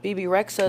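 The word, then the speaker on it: Bebe Rexha: BB Rexa is how you BB pronounce it.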